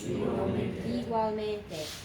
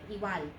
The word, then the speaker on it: igualmente: Pronounce every vowel, but you can get very soft and very lazy on this G. here, and you don't even do a G, you just do a W. Igual, like that.